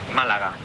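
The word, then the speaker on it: Málaga: It's pronounced Malaga.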